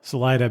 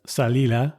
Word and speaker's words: Salida: buav Vista and Salida Salida being an angelized pronunciation of salila which means exit in 1765 Juan Maria